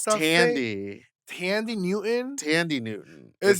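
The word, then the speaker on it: Thandie: What's your favorite Sandy Newton movie? Who's Sandy Newton? Is that the It's going to be a strange. Oh, I think it's Tandy.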